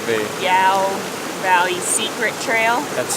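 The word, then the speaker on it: Iao: The Yao Valley Secret Trail. That's spelled I-A-O, by the way.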